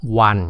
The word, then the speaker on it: One: ว่า One ใช่ ป่ะ สะกด เป็น ตัว O ก็ จริง แต่ ว่า มัน ออก เสียง อะไร ออก เสียง ว่า One ก็ คือ เสียง เะ ออก มา ก่อน งั้น เป็น อะ One Time Charge แบบ เนี้ย อย่า ไป ดู ที่ รูป นะ ดู ที่ เสียง นะ ข้อ สอบ มัน